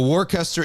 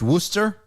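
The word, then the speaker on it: Worcester: like you can easily so warcaster is pronounced Wooster uh you guys take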